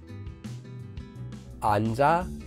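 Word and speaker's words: 앉아: When using a four-letter syllable, if the next syllable starts with the empty consonant, you'll blend the sound of the very last letter at the bottom of the syllable into the next syllable. So here in this example, the very last letter at the bottom of our four-letter syllable will blend into the next syllable here, a becoming cha.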